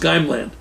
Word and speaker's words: Heimland: author in a journal, Soviet Heimland, called, pronounced Geimland.